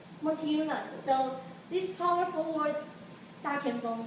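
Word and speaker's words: Motiejūnas: So how to pronounce his name? Montiunas.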